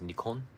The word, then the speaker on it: Nikon: I use a Nikon, or Japanese pronunciation is Nikon.